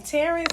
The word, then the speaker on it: Tarren: I am Tarren, and it's pronounced Tarren.